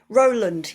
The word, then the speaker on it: Rowland: Is it Roland or how do you pronounce it? Roland.